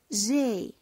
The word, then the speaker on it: j'ai: Attention à la prononciation. انتبهوا معايا للنطق. J'ai. علاش درت j'ai? Normalement خصني ندير je et. ولكن lorsque deux voyelles se rencontrent, on élimine le premier voyelle.